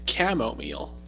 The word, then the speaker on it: chamomile: Apparently, I pronounced the T wrong. Apparently, you It's what? pronounced the T wrong. It's chamomile. Chamomile. There you go.